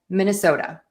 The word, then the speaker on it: Minnesota: And the reason is is that T is between two vowels. And so, we're going to retain that voicing and say that super fast D sound. And then also, because that syllable is unstressed, that flap T is going to be really, really quick.